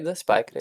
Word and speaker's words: SpyCreed: SpyCreed.